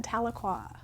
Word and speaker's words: Tahlequah: Hi, I am the campus director at the NSU Wesley in Tahlequah.